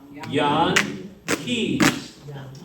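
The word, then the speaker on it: Jan Kees: Now say it like a Dutchman. Yahn Kees. Yankees. And then that's where that comes from.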